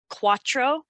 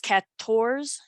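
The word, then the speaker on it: quatorze: on the cat torsium so cuatro but it's cat tours that is the french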